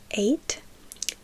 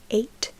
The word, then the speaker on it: eight: como se escribe ocho eight eight eight no pronunciamos casi la g no se ni siquiera se escucha eight eight como si hubiese